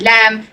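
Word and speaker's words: لام: какая буква ле лям Это называется как лям мы должны говорить лям Зай та вот так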